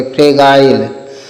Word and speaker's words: fragile: और EA है तो ए की मात्रा कर देंगे, और GILE है तो इसको गाइल पढ़ेंगे, ठीक है, GILE को गाइल पढ़ेंगे, फ्रेगाइल। FRAGILE, तो इसको फ्रेगाइल पढ़ेंगे।